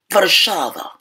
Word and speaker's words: Warszawa: Anyway, the correct or legit Polish pronunciation is Warszawa.